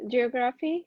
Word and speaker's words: geography: stupidity kilometer okay so if graph is the suffix and we want to stress one vowel to the left of it and actually graph is not going to sound like graphy it's going to be reduced to gruffy but which vowel is one to the left of gruffy it's the o so we want to